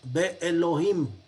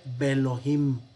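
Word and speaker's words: בֵּאלֹהִים: No decimos Be Elohim, sino simplemente Belohim, Le Elohim, Kelohim.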